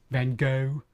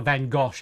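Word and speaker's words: Van Gogh: I was trying to pull a van gosh out of that, but I can't do it. There's no there's no region in the world that would pronounce his name Van Gosh.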